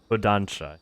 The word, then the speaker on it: Kodansha: Kodansha.